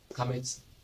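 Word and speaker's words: qamets: And now, when we talk about kamets, it has to be a long vowel and that is a long vowel ah.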